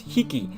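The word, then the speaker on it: 匹: for counting small animals it's pronounced as hiki or you know you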